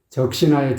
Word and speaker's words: 적시나: 적신하의 지읒 발음이 좀 살짝 진리게 해주는 그런 느낌, 그런 게 적신하 이렇게 해야 되거든요. 적신하 그래야지 뭔가 흠뻑 피에 젖은 느낌이 살아나거든요.